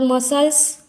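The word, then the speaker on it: muscle: pronunciation नहीं होता है उसके बाद मसल्स हमारे बॉडी में जो मसल्स होते हैं उसका यह सी साइलेंट होता है उसके बाद सीजर्स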